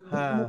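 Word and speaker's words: ح: এই হরফের কি নাম হ্যাঁ হা গলা চেপে তাই না একটু গলা চেপে বাতাস বের করে উচ্চারণ হবে কণ্ঠনের মধ্যখান থেকে হা ঠিক আছে না হ্যাঁ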